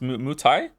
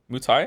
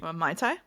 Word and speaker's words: Muay Thai: I'm most interested in is it called pronounced Muay Thai? Muay Thai, I think. That looked like the most interesting one to me. Mai Tai?